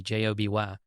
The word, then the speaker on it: Joby: progress toward certification I guess that's how you pronounce it Joby J OB y Joby Aviation praised the faa's efforts to release